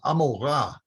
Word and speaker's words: Amorah: One of the things that you should notice is Sodom sounds like the English Sodom, but the name of the other city is Amorah. Amorah doesn't sound like Gomorrah. There's no G on the beginning here.